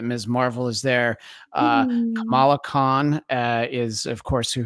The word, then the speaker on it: Kamala: the few people that need to have multiple pronunciations for names spelled like that, because our vice 100%. president is Kamala. She's Kamala, and I almost said the wrong one.